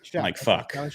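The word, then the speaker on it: Shough: And so, we got we got a rookie in Tyler Shuff. I don't know if I'm saying his name wrong. Shuck.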